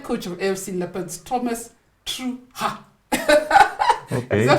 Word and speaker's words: Trucha: of fc leopards thomas true is that how you pronounce it let's say through without the pose true without the pause so thomas it's good